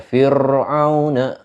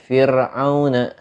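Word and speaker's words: فرعون: Intinya ketika kita baca tipis itu ro-nya itu enggak ditebelin bacanya, tapi ditipiskan saja. Khabirun atau fir'auna, fir'auna. Enggak dibaca enggak dibaca fir'auna, tapi fir'auna biasa.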